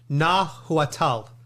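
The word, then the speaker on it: Nahuatl: and I don't know if I'm going to pronounce it correctly but it's nahal n a h u a t l and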